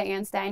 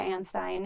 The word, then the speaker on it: Anstine: so anyway but my name is ann stein and i'm not creative